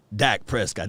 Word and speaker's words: Dak Prescott: from rain dakota prescott i said his name wrong elite dak prescott that's how you got to say his name elite dak prescott we